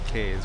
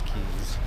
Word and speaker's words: Cays: It looks like it's pronounced Princess Cays, but they call it all Princess Cays.